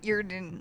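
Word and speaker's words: Eardon: Earden, like EAR. D-O-N.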